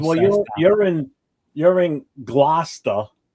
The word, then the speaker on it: Gloucester: Gloucester. Gloucester. Glaucoma. There's no H in there. Gloucester. Lucister.